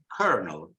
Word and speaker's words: colonel: no o you see colonel colonel in American English the intrusive R is there and it is pronounced so you say kernel kernel now the r maybe